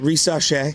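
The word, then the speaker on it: Risacher: I always mispronounce his name. Come on. Risachet? Thank you. Risachet.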